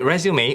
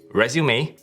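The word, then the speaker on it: résumé: potential employer the word resume originates from French and it means summary this is why it is pronounced the French way resume and not resume a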